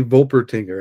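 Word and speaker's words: Wolpertinger: the wolper tinger that could also be volper tinger I believe depends I know the the the W sound is pronounced differently around the world so I'm just giving you options okay um yeah there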